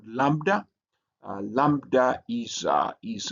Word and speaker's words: lambda: Then you have what is called lambda. Uh lambda is uh is uh uh also written like this and it has a l sound like lamb and it is translitated